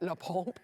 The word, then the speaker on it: LaPompe: And you have to say it like that, LAPOMPE.